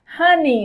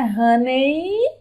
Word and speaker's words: honey: Honey, outra coisa, vamos prestar atenção. Não é, a pronúncia não é honey, a pronúncia é honey, ni, ni, ni.